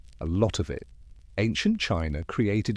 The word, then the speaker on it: qi: Ancient China created its own complex system based on a similar idea of harmony, the flow of energy, or qi, pronounced chi, while India concentrated on balancing the doshas.